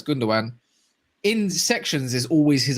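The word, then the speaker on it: Gündoğan: city uh fan things under goodness some people pronounce it but i know it's gundogan in sections is always his appreciation spots and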